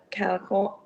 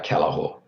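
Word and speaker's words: Callachor: flexibility to respond thank you very much mr calico and uh could you just correct me in the pronunciation of your surname uh kalahor kalahor no worries thank you um thank you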